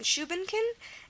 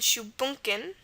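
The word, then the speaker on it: shubunkin: we have shankin again two pronunciations on this one shuin and shunin okay uh s h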